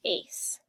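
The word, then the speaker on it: -ase: or makes DNA so any enzyme ends in ASE pronounced ace and your seventh and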